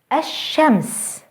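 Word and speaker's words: الشمس: by a sun letter hashems the Sun a fairly the Third the meat notice how the Sun letter is doubled and how the L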